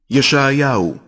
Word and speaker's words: ישעיהו: Ou seja, agora você verá a verdadeira pronúncia em hebraico legítimo do nome de Isaías, que é usada lá em Israel. Vídeos é o que não vai faltar para você conferir. Veja. ישעיהו, שליח אלוהים.